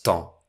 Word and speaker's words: temps: allez me dire temps et le mot se prononce temps.